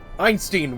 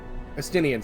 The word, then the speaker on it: Estinian: Einstein, wait! Estinian, sorry. I keep remembering the pronunciation wrong. I keep forgetting there's another I-E-N.